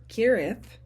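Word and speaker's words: Cherith: for sure where this narrow strain pronounced kirith was located but Elijah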